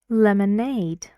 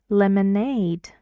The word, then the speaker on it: lemonade: it goes on self lemonade lemonade it's a kind of drink you know lemonade how many syllables can you count it lemonade three and the stress goes on Aid lemonade it's true uh where do